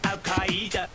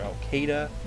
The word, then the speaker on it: Al-Qaeda: The song also is very admirable for using the correct pronunciation of Al-Qaeda. Many pronounce it Al-Qaeda or Al-Qaeda, but it is in fact Al-Qaeda.